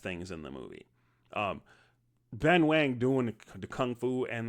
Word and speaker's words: Ben Wang: This is Lee Fong, the current karate kid played by Ben Wang. Ben Wong. It's an It's an A, but you know, sometimes I mess that pronunciation up. Sorry.